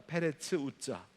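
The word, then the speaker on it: פרץ עזא: 그래서 그 땅의 이름을 베레스 우사라고 했다는 거예요. 여러분, 이 베레스 우사라고 하는 이 말을 히브리어 발음 그대로 하면 페레츠 우자입니다. 페레츠 우자.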